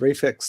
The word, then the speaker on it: REFLX: China Lucky's being made by Reflex Lab Film, which is spelled REFLX. And Reflex Lab they've been in business since 21.